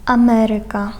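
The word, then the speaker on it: Ameryka: Насправді там акцент у цих наголос у цих словах вони у більшості грецького походження падає на третю від кінця. Якщо рахувати склади, то на третій склад від кінця падає.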